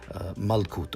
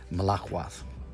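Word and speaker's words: מלכות: Initially, he was using malkut, or as he pronounced it, malakwat.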